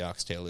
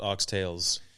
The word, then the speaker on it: oxtail: But there's no S at the end is what I understand. Yeah. It's not appropriate to say the S, apparently.